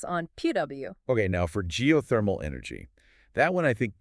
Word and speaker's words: geothermal: you break it down geothermal the emphasis is on the third syllable geothermal okay I think I can